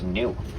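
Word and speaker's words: gnu: And they have another name in swuahili spelled g n u pronounced new.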